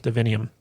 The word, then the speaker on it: divinium: her to heal divinium divinium thank you rhymes with divine yeah and uh so